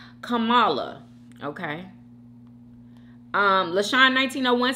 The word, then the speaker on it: Kamala: my God Jordan Hayward 2060 says Kamala is pronounced Kamala okay um Lesean 1901 says yummy bites hey